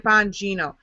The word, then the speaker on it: Bongino: For those who have never heard of Dan Bongino, his name is spelled B-O. B-O-N-B-O-N-N-O. Bongino. How it sounds is how it's spelled.